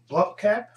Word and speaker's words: Blomkamp: directed by um written and directed by Neil Blomkamp my god that's the proper way to pronounce his name cause he did district nine